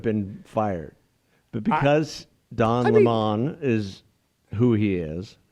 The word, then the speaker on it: Lemon: fired but because Don Lemon is who he is is it Le Mans no it's lemon but he that he